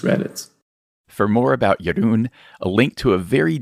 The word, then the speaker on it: Jeroen: it shows you care my first name is pronounced your roon in case you were wondering maybe when you just read it for more about yarun a link to a